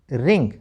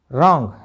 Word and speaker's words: wrong: WRY राई, WR में W silent. और भी शब्द देखो, WRING वरिंग नहीं रिंग, WRIST रिस्ट नहीं रिस्ट, WRATE राइट नहीं क्या बोलना है राइट, WRONG रोंग नहीं बोलना, क्या बोलेंगे रॉन्ग, जिसका मीनिंग कहता है गलत।